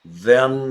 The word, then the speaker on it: than: When I was little, I had many more marbles than my brother Jerry. Oh, then? No, then. Notice how I pronounce that, everybody.